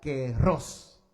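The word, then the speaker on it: καιρός: En griego eh se escribe en español cairó, se pronuncia querros.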